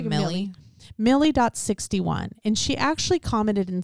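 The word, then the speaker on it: Mily: handle name on YouTube, it's M-I-L-Y, like Lily, but Millie? I would say Millie. M-I-L-Y? And Lily's L-I-L-Y. I would say Millie. Millie.61.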